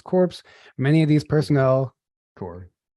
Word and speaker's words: Corps: Corps. You don't pronounce it. Corps.